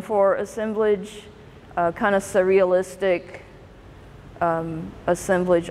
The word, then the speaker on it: assemblage: assemblage kind of surrealistic assemblage artist or austin blahs as you'll hear it pronounced he was from i